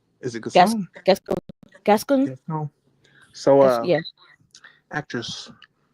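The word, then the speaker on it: Gascón: Gasson? Is it Gas, Gasson? Gascon, Gascon.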